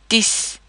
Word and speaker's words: dix: An X is usually silent at the end of a word, but it is pronounced as an S when dealing with numbers. For example, dix is 10 in French.